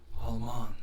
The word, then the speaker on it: Alman: Almond, if this jack, am I saying it wrong? Alman. Almond. Alman. Oh, almond. Think of all and think of as in money.